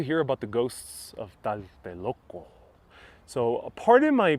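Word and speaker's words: Tlatelolco: actually pronounce those words so today the tl sounds it's like a sound but uh back then it was a sh sound i'd rather read about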